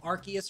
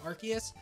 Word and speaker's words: Arceus: We have ourselves Arceus or Arceus, however you want to pronounce it. I go with Arceus.